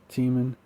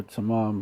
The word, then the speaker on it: Teman: his wisdom no more in Teman, his counsel, or Taman, but you could pronounce it either way.